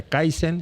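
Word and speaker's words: kaizen: cómo será en chino pero en japonés se pronuncia kaisen en coreano se pronuncia keson y en chino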